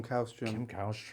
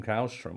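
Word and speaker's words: Källström: So I mean, it's Arsenal heritage, and obviously Kim Kallstrom, but also Steve Morrow as well. And just for anyone who's not across, Kim Kallstrom, or Kallstrom, as I think it was correctly pronounced, signed and was revealed to have a fractured spine.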